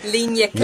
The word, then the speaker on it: ligne claire: have to ask you for all the French pronunciation. Ligne claire.